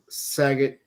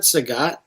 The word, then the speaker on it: Sagat: probably gonna skip on sagot Honda isn't that Sagat how about I forgot